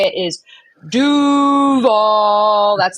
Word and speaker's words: Duval: As far as how to properly say it, the proper way to say it is Duval. That's the proper way to say it. So you got to go lower octaves.